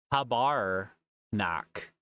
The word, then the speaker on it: tabarnak: pronunciate it more accurately tabarnak tabarak okay so it is just like um Tabernacle Tabernacle tabac I'm just